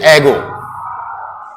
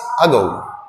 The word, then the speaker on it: ago: इसको आप बोलते होंगे एगो। निश्चित रूप से मैक्सिमम छात्र या टीचर्स जो भी हैं, दे ऑल प्रोनाउंस इट एगो। इट्स नॉट एगो, इट्स अगो।